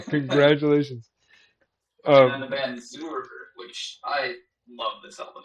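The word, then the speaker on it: Zuhr: Is that how you pronounce that? Zur.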